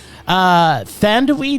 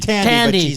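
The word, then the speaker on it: Thandiwe: Thandwi Newton, is that how it's pronounced? It's just It's Tandy. Tandy, but she's now changed her spelling of her name. Oh, that's why. Still said the same way.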